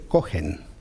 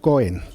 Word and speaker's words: Kohen: Sacerdote en hebreo se dice Kohen. Pronunciado así. En esa lengua profanada que es el hebreo moderno se diría Cohen, porque la letra G pues se ha convertido en una consonante muda, cosa que no lo